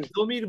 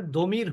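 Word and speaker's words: ضمير: কেউ কেউ এটাকে দমির। জমির বলে, জমিরও বলতে পারেন, সমস্যা নেই, কিন্তু উচ্চারণটা আসলে দমির হবে।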